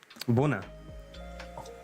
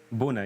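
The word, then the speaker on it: Bună: Buna. Ona. Buuna with a B. Bona. Buna.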